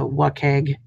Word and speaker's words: WCAG: we use at ode are the what keg because you got to pronounce everything who wants to say wcag every time um what keg 2.0